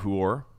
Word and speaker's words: Huor: I had forgotten about Huor, and which that's not a mispronunciation. That's his name.